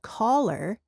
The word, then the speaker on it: collar: There's a short a sound as in cup when you say color and collar is an a sound. The same sound as in the word father.